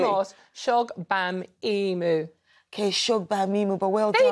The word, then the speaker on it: Shogbamimu: Do it again and read it phonetically. Mamimu? You just missed the beat. Try again. Go on. Shola, welcome to the show. No, you will say my name. Now read it phonetically. Shola Mos Shogbamimu.